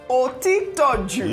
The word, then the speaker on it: Otitoju: Otitoju.